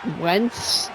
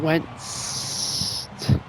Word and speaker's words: Wentz: The T is silent, by the way. Wentz. Wentz. Yeah. Piss you off. Piss you off. It's his name. Wentz. It's his name, not mine. Wentz. Actually, no, it's not silent. It's just it's you don't pronounce it that hard.